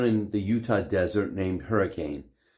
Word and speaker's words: Hurricane: Utah desert named Hurricane, but residents of Hurricane pronounce the town Hurricane, which is a source of much hilarity for non-Hurricanites. Let's be clear, the pronunciation Hurricane wasn't invented in southern Utah. It's the common pronunciation of the word in the UK.